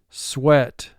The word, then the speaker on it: sweat: EA is representing the short E sound, which places it in the vowel group 6 category.